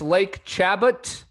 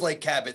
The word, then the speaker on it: Chabot: Anyways, I'm going to say it's Lake Chabot. I know that's mispronounced. Lake Chabot. Yes. Golf course. Can you say that one more time? Lake Chabot. I think it is Lake Cabot. CHABOTT or BBOTT. CHABOT.